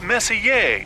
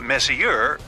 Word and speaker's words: Messier: Pronounced Messier, not Messier, as in, is your room messier than mine?